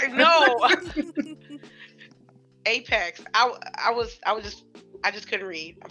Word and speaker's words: Apex: Could Apex? Because I was saying Aspex for like 2 weeks, so I finally said it right.